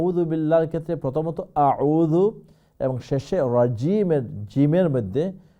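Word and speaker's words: أعوذ: আউযু, আউযু নয়, আউযু।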